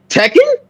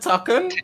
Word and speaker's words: Tekken: I say that right tuck yeah tuck yeah Tekken yeah to Tekken and said tuck yeah I think Tekken yeah my bad Tekken Tekken my bad my